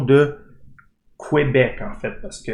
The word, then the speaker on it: Québec: Et là, on va voir la prononciation de Québec, en fait, parce que les anglophones ou les Anglais ne sont pas capables de dire Québec. Ils peuvent juste dire Québec.